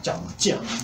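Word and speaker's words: 江: 제이 발음합니다. 짱 이렇게 발음하는데요.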